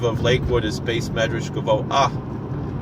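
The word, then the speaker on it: גבוה: recording to clarity, but there is a slight pronunciation of the hey at the end of the word, and it's similar to how we say noach, koach instead of nocha or nocha. It's not gavoha, it's gavoah.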